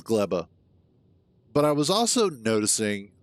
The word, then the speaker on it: Gleba: grabum each time and apparently GBA is actually PR anounced GBA uh I rewatched the trailer for Space Age and um it it they pronounce it as gleba but I was also